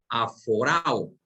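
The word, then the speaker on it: ἀφοράω: Ahora, esa palabra puestos los ojos, si nos vamos al original griego, es un vocablo que se pronuncia aforao.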